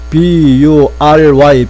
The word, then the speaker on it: bury: 묻다는 이 B-U-R-Y, bury, 요 발음 주의해야 될 것이 bury라고 합니다.